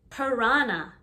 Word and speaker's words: piranha: Piranha, piranha. The H is silent.